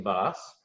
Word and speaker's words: Boss: So our guest today is Jason Boss, and I was excited to be able to confirm that it is pronounced Boss just recently.